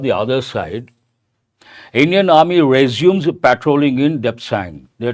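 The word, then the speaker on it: résumé: And actual pronunciation of that particular word, resume. It's a French word, resume, but now people say resume.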